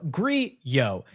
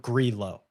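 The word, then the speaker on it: Grillo: The double L in Spanish is pronounced as a Y. Why has no one told the commentators this? It's Ameliano. Grio.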